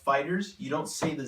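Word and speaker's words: FighterZ: official name is Dragon Ball fighters and it's pronounced fighters you don't see the Z it was just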